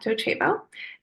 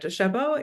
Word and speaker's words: Docebo: Joining me today, we have Maija Mickols, AI Product Manager at Docebo, and Josh Penzell, Head of Custom AI Solutions here at ELB Learning.